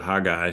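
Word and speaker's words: Haggai: And uh uh Hagai, it's uh um that one was an easy one to pronounce and uh I I'd heard it pronounced all sorts of other ways, but I'd always pronounced it hag guy.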